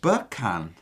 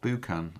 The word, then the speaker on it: Buchan: So Graham's saying, oh, Buckan, not Buchan. I give up. Buckan. Is that right? Buckan. Graham Buckan. I think that's right. Rhymes with F-U-C. Buck. Yeah, that rhymes.